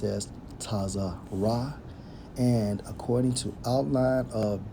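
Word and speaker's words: צרה: to the Hebrew which is strongs H 6869 pronounced as tazar ra and according to outline of biblical usage Straits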